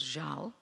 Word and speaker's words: żal: There's no specific storyline, but it ties in with what I have learned is a word that Polish people use, it's spelled Z-A-L, called żal, and it's a kind of a sadness that is always present.